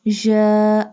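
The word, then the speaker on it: ج: The next line is ja. Alif. Ja. Ja pronounced from the middle part of the tongue touching the middle part of the palate.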